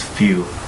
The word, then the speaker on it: feu: word fire which is spelled feu which is pronounce few um moving on from its brief history I'll